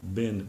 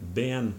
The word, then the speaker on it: been: as the so called bin ban merger so you're gonna hear this word Vee and pronounced as either one of those so it's either bin or even ban because of this merger and this this phonetic